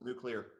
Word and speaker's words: nuclear: Yeah, just remember it's 2 syllables, nuclear.